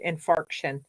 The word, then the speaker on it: infarction: I call them fraction I'm not mispronouncing it it's called infarction so and actually I